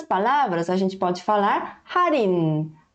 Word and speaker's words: 할인: Então, se a gente for ler um por um, tá? Sílaba por sílaba, a gente vai ler 할인. Mas quando a gente está lendo de uma forma natural, a gente não vai ler 할인, e sim como forma 할인.